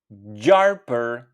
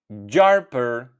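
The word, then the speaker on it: gjarpër: gjalp And for snake gjarper gjarper gjarper So once again butter jalp jalp and snake jarper jarper Thank you for watching and do not forget subscribe for more videos.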